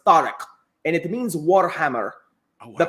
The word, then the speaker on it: Tariq: next pick and i'm devastated to see him mispronounce his own name but it's tariq and it means warhammer the powder the breaker